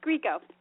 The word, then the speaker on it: Grieco: nail down the pronunciation of her last name, please. Thank you. You did, but that's okay. It's Grieco.